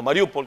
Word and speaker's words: Mariupol: en el teatro de mariupol o mariupol como se realmente se pronuncia que destruyeron las tropas